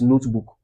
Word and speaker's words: notebook: The next one is notebook. Notebook. Where do we stress? The first.